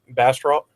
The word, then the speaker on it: Bastrop: how it's pronounced basp it depends if you're in if you're from Bastrop Texas it's pronounced some other weird way and but we just refer to as Bastrop okay so that's in